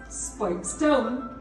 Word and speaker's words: Speightstown: Pronounced Speightstown in local dialect, it was for some